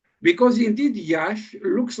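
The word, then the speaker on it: Iași: It's like a soft sh.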